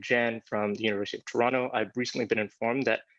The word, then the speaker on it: Toronto: Dan from UCLA and Jen from the University of Toronto. I've recently been informed that Canadians pronounce Toronto without the second T.